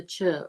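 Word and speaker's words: Chöd: It's actually spelled CHO and two little dots over the O, or it's spelled CHOD. The two dots make it chud, a light D at the end of it.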